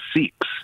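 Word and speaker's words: Sikhs: question for you sure I don't know if you're pronouncing it correct I think it's they're called the seeks that's Gary that's a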